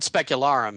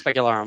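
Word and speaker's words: Specularum: iron ring yeah exactly you said it right the first time specular arum it is specular arum okay specular arum but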